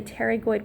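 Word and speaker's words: pterygoid: these structures right here these are the teroid processes with a silent P at the so it's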